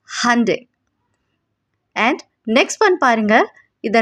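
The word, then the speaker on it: Hyundai: First one, இதை எத்தனை பேர் ஹியூண்டாயின் ப்ரொனவுன்ஸ் பண்ணிட்டு இருக்கீங்க? This is Hande.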